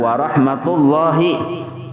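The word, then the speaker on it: ورحمة الله: Nah, itu warahmatullahi tullahi di atas lam ala lamil jalalah di atas lam tuh nah. Itu bacanya tebal tuh karena sebelum huruf lam jalalah itu barisnya dhammah maka lo-nya tuh tebal.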